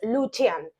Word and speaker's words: Lucian: cosa muy importante que en el idioma Romano la c se pronuncia como ch en español por ejemplo el nombre lucian lo leerías en español lucian pero en rumano es lucian por eso de este